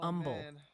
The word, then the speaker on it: Humble: Humble is Umble.